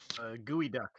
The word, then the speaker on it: geoduck: Gooey duck. A what? Pronounced, it looks like a penis. It's a gigantic clam. It's spelled Geo duck. Geoduck. It looks like it's spelled geoduck, but it's pronounced gooey duck.